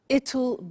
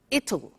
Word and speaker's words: it'll: difficult i said tomorrow it'll be cold you notice how it will becomes it'll it'll strange pronunciation yeah